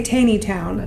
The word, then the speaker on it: Taneytown: Okay, because we want to say Taneytown because it's Taney, but it's really Tawny. Pronounced Tawny. So it's like port.